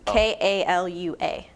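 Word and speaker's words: Kālua: No, it's Kalua.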